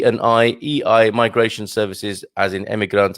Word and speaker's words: EI: the letters of it are e and i e i migration services as in immigrant and immigrants and